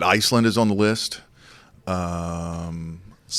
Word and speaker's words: Svalbard: Svalbard. Svalbard. That's how the locals say it.